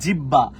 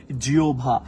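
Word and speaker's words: জিহ্বা: বেশিরভাগ মানুষ শুদ্ধভাবে উচ্চারণ করে বলে জিব্বা, না এটার উচ্চারণ জিব্বাটাও না, এটার উচ্চারণটা হচ্ছে জিওভা।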